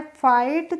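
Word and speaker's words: fight: जैसे हमने FIGST को पढ़ा है फाइट, तो इसको TIGST को पढ़ेंगे हम टाइट।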